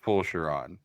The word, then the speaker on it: Fulchiron: right yeah yes and it's pronounced P shiron hey but does yeah